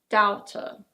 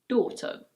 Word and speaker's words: daughter: In American English the first syllable is pronounced a little differently. It's: parent. Parent. This word is: daughter. It's not "dow-ter". In British English it's: daughter.